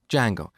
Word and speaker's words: Django: framework called Django so it's spelled with a silent D and it's pronounced Django it's a web framework